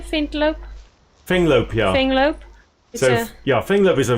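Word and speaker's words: Fenglope: Finglope, yeah.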